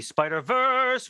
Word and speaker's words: Spider-Verse: I mean, one of the things I love most about the Spider-Verse, which is the correct pronunciation.